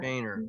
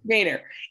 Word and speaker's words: Boehner: Yeah, it looks like Boner, but he pronounces it Boehner. Boehner, yes.